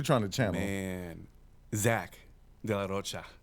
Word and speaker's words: de la Rocha: Man, Zach de la Rocha. I have to say it like Spanish.